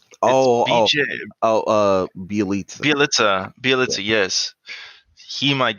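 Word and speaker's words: Bjelica: I don't know if Damian Lee gets any playing time, but uh, I can't ever pronounce this man's name. Bielin, it's Oh, oh, BJ Bielitsa.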